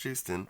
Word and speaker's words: Joosten: It's not Houston. It makes a yes sound.